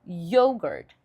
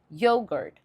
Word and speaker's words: yogurt: Mas no inglês essa palavra vai ser yogurt. Yogurt. Ou seja, é a primeira sílaba que é enfatizada.